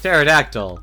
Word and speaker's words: pterodactyl: trust a a prehistoric pterodactyl to the p is silent you're right I don't